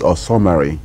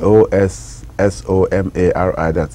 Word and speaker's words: Osomari: My town is Osomari. Okay. Osomari. There's a distinction in the pronunciation or spelling.